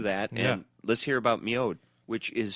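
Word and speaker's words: Mjød: let's uh cheer that and let's hear about miod which is spelled MJ o d and if you see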